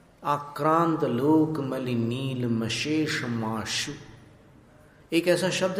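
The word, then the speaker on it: नीलमशेषमाशु: मली नील मश मश श में आपको जीभ नीचे रखनी है नीचे वाले दांत के पीछे और फिर शेष में जो श है वहां आपको जीव ऊपर ले जानी है मश माश फिर शु में नीचे लानी आक्रांत लोक नील मशेषा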